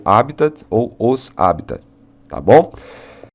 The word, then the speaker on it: habitat: é uma paroxítona então Só nos resta a opção de dizer habita é uma proparoxítona tá então a pronúncia em português pode ser habita que é mostra mais próximo do que seria do latim ou um pouco mais aportuguesado pronunciando te no final como habitat II É mas o mais correto no latim é sem o ter é conteúdo habita tá